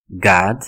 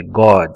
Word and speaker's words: God: tem duas coisas o o no inglês ele tem uma tendência muito grande a ter som de a acontece com a palavra God o pessoal fala que é god né não é esse